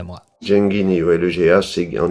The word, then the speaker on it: Genghini: pour commencer on a appris qu'il fallait bien prononcer Bernard gengini et l'invité de monstade à moi j guini ou le GH c'est en italien voilà c'est